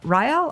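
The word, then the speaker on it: RIHEL: health and environmental leadership do they pronounce that ryle or yup right hello so the advanced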